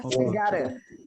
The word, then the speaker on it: gotta: bacanya gotta.